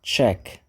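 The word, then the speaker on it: Czech: republic esse país aqui esse czz ch eu acho uma loucura porque nada soua do jeito que parece mas quem nasce lá nós chamamos de check E aí para facilitar vamos dizer que aqui ó é check republic tá para não confundir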